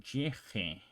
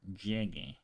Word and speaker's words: llegue: is because otherwise, if you pronounce llegue without the U over there, it will be pronounced llege because of rules that we learned before. So the G before the E or the I is pronounced more like an H in English. So llege. But in order to preserve this sound from the original word, so llegar, we change it. We spell it this way to preserve the ga sound.